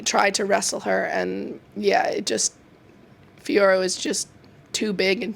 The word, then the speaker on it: Fiorot: But then that last fight with Fiorot, is that how you pronounce it? Fiorot?